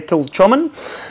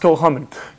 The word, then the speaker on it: Kilchoman: to, most people say Kilchoman, but it's actually, the C is actually silent, so it's pronounced Kilchoman.